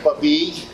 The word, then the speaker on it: Babij: what's your name puppy okay don't spell your last name for me e-a-b-i-j okay the j is kind of silent well they don't pronounce